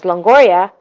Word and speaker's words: Longoria: you shouldn't, my maiden last name's Longoria, that's how you pronounce it.